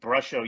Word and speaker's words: Brusho: And somebody's just asking Brusho. Yes, correct. Olivia, it is spelled brush with an O. Brusho.